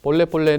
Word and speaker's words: Pole Pole: 'Pole Pole' means 'slowly, slowly'. The pronunciation is similar to our country's 'Palli Palli' (faster, fater), but it has the complete opposite meaning.